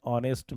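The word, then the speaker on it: honest: एलीिफेंट एन इकफट एन एन ऑनेस्ट मैन अब इस condition पे दे दे एच साइलेंट तो एज साइलेंट क्यों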